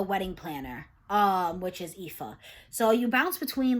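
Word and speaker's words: Aoife: looked it up and it says that it's pronounced IFA IFA I actually found this really nice list and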